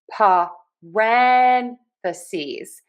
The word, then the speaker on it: parentheses: Pa-ren-the-ses. So, we are going to stress syllable number two.